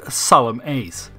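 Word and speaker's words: Solemnace: the plant is named solemnness though I'm pretty sure tras is going to end insists he pronounce it solemn Ace cuz he knows he's the greatest Ace in the Galaxy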